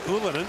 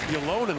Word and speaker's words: Ylönen: Left there by Ylönen, whose dad was known as Ylonen when he played in the NHL, but his son has gone with the traditional Finnish pronunciation.